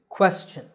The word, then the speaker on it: question: you say it well the correct pronunciation is question the first syllable is made with a k combined with a wha sound by rounding your lips quests the second syllable is chin like your chin so this word is